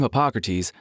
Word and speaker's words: Harpocrates: I'm Harpocrates, the first R is silent, ancient god of vows, silence, and secrets.